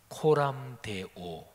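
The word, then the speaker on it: Coram Deo: 이런게 있어요 제가 라틴어 발음해 보겠습니다 많이 들으신 발음이에요 코람데오 데우스 이게 라틴어 하나님 신 이런 뜻이에요 코람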